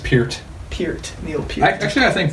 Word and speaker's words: Peart: Right Definitely pronounced Peart.